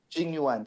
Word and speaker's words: Jing Yuan: I'm sorry, I don't know how to pronounce his name right. General Jing Yuan. Wang. Jing Yuan, thank you.